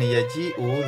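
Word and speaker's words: يجيء: Dan berikutnya yang kelima, note that in yaji'u the hamzah is written after the ya because both the ya and the hamzah are pronounced.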